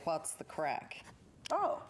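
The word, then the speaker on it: craic: So, like, if you're out socially and you met somebody, you'd say, what's the crack? Oh. And crack is spelled C-R-A-I-C, which means...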